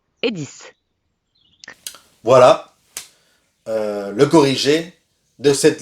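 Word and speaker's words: dix: 6 et 10 s'écrivent avec X, mais se prononcent avec S.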